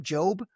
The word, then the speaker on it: Jobe: Does he pronounce his name Jobe? Okay. Correct.